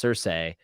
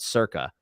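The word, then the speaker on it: Circe: out the fact that i mispronounced cersei uh by madeline miller i call it circa and they're like why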